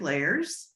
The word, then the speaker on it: Leyers: me um at layers rhymes with cake layers and and um that